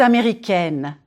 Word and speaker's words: américaine: If you are a woman, je suis américaine, américaine. Américaine. Flatten your tongue on the N and close it, N. Here, try this. Say egg, and then N. Américaine. Bonjour, madame.